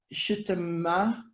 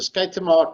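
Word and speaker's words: Schuitema: of this, so I might not get the pronunciation right, Shitama Care and Growth Leadership Model? Yeah, the Skaitama Care and Growth Leadership Model.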